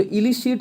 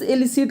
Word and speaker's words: elicit: ठीक है, और एक वर्ड और होता है, उसको भी प्रोनाउंसिएशन तो हम सेम ही करते हैं, ELI, थोड़ा सा ध्यान से देखिएगा, CIT। इस एलिसिट का मतलब होता है किसी से कोई खबर निकालना।